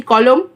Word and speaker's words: কলম: যেটা দেখো আমরা যখন উচ্চারণ করছি কলম, মটাকে ছেড়ে দিচ্ছি, ম এর পরে অ বলে টানছি না, কলম বলছি না, কলম